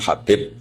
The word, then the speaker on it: Habib: Ada yang nulis Abi Abdurrahman Habib Asulami. Itu di harakatnya kitab itu ada yang nulis. L yang benar. Oh nggih. Yang benar itu bacanya habib.